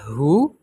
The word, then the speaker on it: who: wrer Ris or wrong It also didn't pronounce it in Words such as Who whoever WH whom and to Oke so the